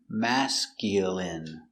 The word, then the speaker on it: masculine: Mascul mascul mascul mascul mascul masculine masculine masculine stress on the first syllable.